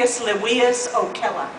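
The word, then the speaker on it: Appius Livius Ocella: element and yeah El yes ma'am can you pronounce Eric's maker name name Aus leas Oella okay thank you I I consulted a Latin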